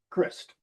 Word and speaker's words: Christ: Crist is how I pronounced it.